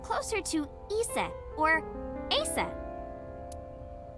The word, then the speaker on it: Aset: is named Isis but in ancient Egyptian it's pronounced closer to ISA or aset H how do I explain this horus's